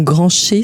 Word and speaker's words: Grancher: Et donc, si on veut avoir plus de détails, tu as écrit un livre, Cure naturopathique, aux éditions Grancher. Ça s'écrit comme ça.